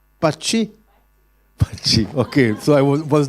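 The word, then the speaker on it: Patxi: they are so complicated how do you pronounce p a t x i parchee okay so i was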